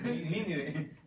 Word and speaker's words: Nínive: De Nínive. De Nínive. Nínive. Ok, entonces aquí tiene la... Tiene acento en la I.